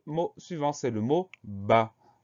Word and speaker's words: bas: suivant c'est le mot bas une seule syllabe très courte ba bê à et on a une lettre muette c'est la lettre s lettres muettes qu'on va